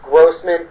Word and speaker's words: Grossman: Um Robbie um Gman Grossman, I know his name has been mispronounced, but it's pronounced Grossman.